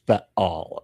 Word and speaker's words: Baal: and it's pronounced Baal, okay?